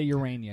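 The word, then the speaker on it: Ureña: Is that how you say his name? Jose Urania, yep, on Wednesday night.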